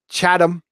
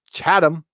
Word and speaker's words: Chatham: I gotta say Chatham. There, Chatham.